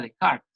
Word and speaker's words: Descartes: lo ve aquí dice descartes en francés se pronunciaría de carga el empirismo se asocia